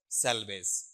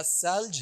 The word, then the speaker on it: selves: बताओ ये सेल्वेज है या सेल्ज है, सेल्ज। ले भी आधा है, वे भी आधा है, तो ये प्रोनाउंसिएशन क्या है, गलत है।